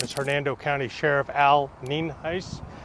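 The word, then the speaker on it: Nienhuis: Hernando County Sheriff Al neenheis spelled n-i-e-n-h-u-i-s and it's pronounced neenheis we're here out at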